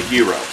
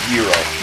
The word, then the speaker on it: gyro: what is known as a hero or Gyro or however you want to call it but in Greek pronunciation Euro yeah yeah cooking up